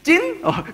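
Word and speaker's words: Chín: 제 이름은 찐이야 찐 찐 성조도 올려야 돼 그냥 하면은 못 알아들어요 찐 그러면은 찐이라는 뜻이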